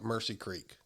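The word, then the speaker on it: Omusse Creek: Well, we had the spot we hunted, and it was on it's spelled OMUSSE, but they call it Mercy Creek.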